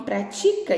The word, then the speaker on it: pratica: pra prática lá em meu irmão pratica esporte a palavra é paroxítona ou seja a sílaba tônica é a penúltima e aí e é